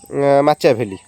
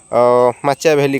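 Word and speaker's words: Machiavelli: Prince पुस्तक के लिखने या आंसर हो निकोलो माचिया वैली ओके स्पेलिंगाने प्रोनाउंसशन कर मनख एन आई सी ओ एल O Niccolo माचिया वैली कले एम ए सी एच ए आई ए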